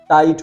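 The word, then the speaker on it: tight: नाई और GH silent हो गया, ट, नाइट। आई के बाद जीएसटी आया, जीएच को तो हटा दो, टाइट हो जाएगा।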